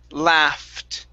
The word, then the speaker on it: laughed: this word is pronounced laughed okay so a couple of strange things here uh the uh the gh makes an f sound and the ed makes a t sound so this word is